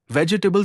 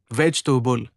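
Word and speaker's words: vegetable: वेजिटेबल सही वेज टूबुल ना कि वेजिटेबल।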